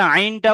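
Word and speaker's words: عين: জি, অনেকের আইনটা উচ্চারণ হচ্ছে না, খেয়াল করুন, আইন গলার ভিতর থেকে।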